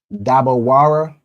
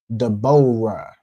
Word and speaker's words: Deborah: see in here it gives you dabawara, right? This word, this letter Y is something that the oppressor added, right, to make that O sound. You can see here, the oppressor, the Jewish man's pronunciation, he'll say Deborah, right?